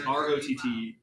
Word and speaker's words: Rottweiss: yeah, they're the Rotweiss. They're this expansionist nation of foreigners who are coming into the fire room. I was pronouncing it wrong. It is ROTTWEISS.